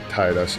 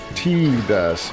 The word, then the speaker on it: Tidus: right thing, but like the way it's pronounced is with that long e sound. And when they said that, I'm like, guys, guys, I nope. That that's a nope for me. T does.